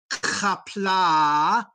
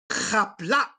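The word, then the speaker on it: Qapla': Remember that the apostrophe cuts off the sound at the end. So do not say kapla, say kapla.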